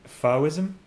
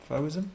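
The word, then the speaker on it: Fauvism: I said that this is close to an Fism. Fism. Fism. How do you spell it?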